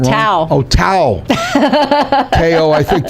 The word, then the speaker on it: Tao: And then we went out to, what was it called, KO at the Venetian? KO? Could be saying it wrong. Tao.